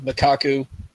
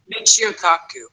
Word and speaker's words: Michio Kaku: know that interview, but that interview, the segment of Makaku. See, now I can't say his name right. I know. Michio Kaku.